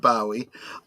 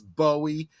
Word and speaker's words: Bowie: my pronunciation of David Bowie. I am pronouncing it in the British. I know that he was known as Bowie in the United States. He even has gone on record as claiming the Bowie pronunciation specifically because he